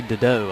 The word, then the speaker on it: Dedeaux: Ashley Dedeaux, I believe. Gotcha. It's the correct pronunciation on that one.